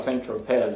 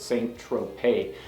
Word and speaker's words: Saint-Tropez: it looks like it's it looks like Centro PES but in the song it he pronounces it saint-tropez I really dig the